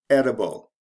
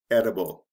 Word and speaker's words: edible: Eat, edible. With eat, you have a long E sound. You change that to a short E sound. We change the T to a D and add I-B-L-E. Eat, edible.